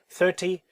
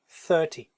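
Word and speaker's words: thirty: 30, the sound of the final consonant, final syllable is short. 30, 30.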